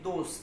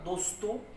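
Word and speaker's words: those: এবং দ্যাট এর plural form কি? দোস। দ্যাট এর প্লুরাল ফর্ম কি? দোস। কি? দোস। অনেকে বলেন না দোস্ত, ওই দোস্ত, দোস্টুক বলেন উচ্চারণ।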